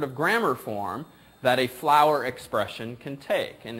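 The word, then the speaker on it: FLWOR: of what's called a how would you pronounce this yeah it kind of works kind of me all right it's a flower expression so all these acronym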